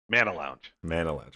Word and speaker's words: Mana Lounge: Mana Lounge. Okay. Mana like the magic.